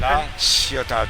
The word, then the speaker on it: La Ciotat: How do you pronounce it? La Ciotat.